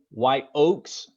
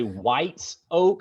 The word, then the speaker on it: White Oak: you it doesn't say white oaks with an s it doesn't say uh it doesn't say whites oak i've heard people say white soak right it is white oak baptist church and it's because of